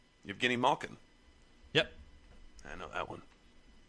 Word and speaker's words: Evgeny Malkin: Oh, well, hold on to get the proper pronunciation of his name. Evgeny Malkin.